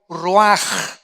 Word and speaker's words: ruach: aquí cuatro vientos es la palabra hebrea raj o se escribe ruach que es como se